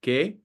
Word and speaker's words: que: A good example of this here is que or que. As you hear, they're both pronounced exactly the same.